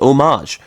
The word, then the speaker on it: homage: a little bit of homage to him yes that's how you pronounce it I know it's a very weird thing because it's spelled homage but it's actually pronounced omage anyways after learning that